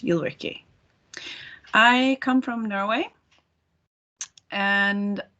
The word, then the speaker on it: Ulrikk: you can say ulrike that's probably the best way to pronounce my name in english you'll ricky i come from norway